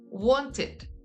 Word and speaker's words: wanted: So we pronounce the past tense with id. Example, what finishes with the sound t, t. And then the pronunciation in past tense would be wanted.